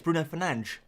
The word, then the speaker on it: Bruno Fernandes: That's how you say it. It's Bruno Fernandes, or Ruben Dias.